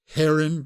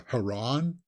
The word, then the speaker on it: heron: the boy and the Heron Heron guys is how you pronounce that word I don't know why there are so many other pundits out there that are having trouble where pronouncing the word Heron but they seem to be the Haron is what they're saying it's like what guys